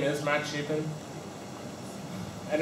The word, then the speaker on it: Chapin: I forgot to say my name is Matt Chapin and it's like very cheap and Carpenter if